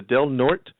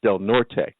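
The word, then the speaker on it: Del Norte: this week's Mr Potter award goes to the delnort County Supervisor now I I will explain to you that that is spelled d l n o r t which should be pronounced delort right Becky will probably tell me yes but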